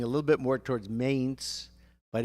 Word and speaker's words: Mainz: So the pronunciation is Mainz, M-A-I-N-Z, Mainz. I was saying a little bit more towards Mainz, but it's Mainz, and Susie is absolutely correct.